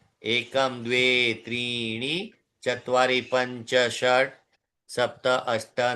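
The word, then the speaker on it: षट्: चत्वारी चत्वारी पंच पंच षट ट अब ट में देखिए ट आधा है इसलिए पूरा उच्चारण नहीं है।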